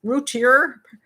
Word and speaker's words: Routier: woman's name i want to say routier every time ruthie i want to say oh routier but it's routier i think it should be french but anyway i call